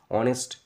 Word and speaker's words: honest: তাহলে এই যে HONEST, এই শব্দটার উচ্চারণ হচ্ছে হনেস্ট নয়, অনেস্ট।